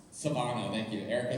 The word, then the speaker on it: Svanoe: by Erika, I can never say it right, Svanoe, thank you, Erika Svanoe.